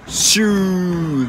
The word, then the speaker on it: シュー: シューが正式な発音みたいです。